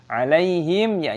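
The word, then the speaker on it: عَلَيْهِمْ: Alaihim dibaca sebagai alaihim. Mim sukun bertemu dengan wawu. Izhar Syafawi terbaca jelas. Jangan dinasalisasi, alaihim wil.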